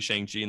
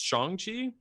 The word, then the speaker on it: Shang-Chi: first off the movie shang jin the legend of uh legend of the ten rings also need to make a statement i've been saying it wrong this whole time it's shangqi apparently all the disney marketing